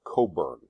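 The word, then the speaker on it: Cockburn: This is Admiral Coburn. That's how you pronounce it.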